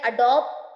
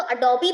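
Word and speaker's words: Adobe: For example, आप अगर बात कर रहे हैं अडोब पी की, तो अडोबी बोलिए, अडोब इट्स नॉट a correct pronunciation, अडोबी होता है।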